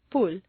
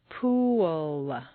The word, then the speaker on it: pool: it will sound like pool, and at worst, it will be unintelligible to your listener. For clear comprehension, you need to say three syllables, pool. Where did that w come from?